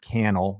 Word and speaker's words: Cannell: If you're interested in checking this out, you could just Google Sean Cannell, rhymes with YouTube channel, and CNBC and check that out.